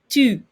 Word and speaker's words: tu: Tu. You know how when you say the U, your chin is out a little bit if you're saying it correctly.